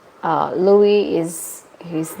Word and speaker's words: Louis: across nationality that's true some pronounce like Louie with silent s okay I think it's